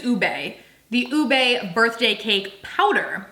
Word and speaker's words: ube: I think is actually the right way to say it. I always say it wrong. I believe it's Ube.